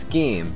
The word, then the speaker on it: scheme: find first of allem it's pronounced scheme there is no h so 10 points off